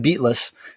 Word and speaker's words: Beatless: a Whiffle fist band called Beatles with two s's so it looks like beatless but it still pronounced Beatles um and that'll be